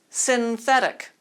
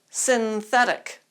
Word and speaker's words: synthetic: is sin and whose last name is fedic synthetic synthetic synthetic let's practice the contrast a few times